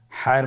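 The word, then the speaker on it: حاء: হায়ের মধ্যে কোনো নোক্তা আমরা দেখতে পাচ্ছি না। হা হরফটি কীভাবে উচ্চারিত হবে? হা হরফটি উচ্চারিত হবে কণ্ঠনালীর মধ্যখান হতে। গলা চিপে ধরে আপনি উচ্চারণ করুন।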